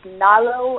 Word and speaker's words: Nalo: Her name is, I think it's pronounced Nalo. It's N-A-L-O.